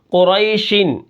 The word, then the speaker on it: قریشن: ذالک ٹھیک ہے۔ آگے قریشن، اس کے ہجے کس طرح ہوں گے؟ جیسے قاف پیش قو، را یا زبر ری، قری، شین دو زیر شن، قریشن، وقفاً قریش۔ یعنی آپ دیکھیں قاف